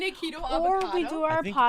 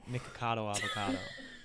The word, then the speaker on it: Nikocado Avocado: have you guys seen nikito avocado that's not how you say his name but I think it's nikocado avocado but that was close but yeah the guy